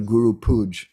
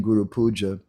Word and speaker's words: guru puja: pronunciation is often faulty i hear many times devotees saying things like let's go to guru pooj instead of saying guru puja or it's uh prabhuji